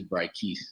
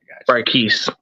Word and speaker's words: Bryquice: And it's Bryquice. Bryquice. Yeah, it's kind of like mispronunciation.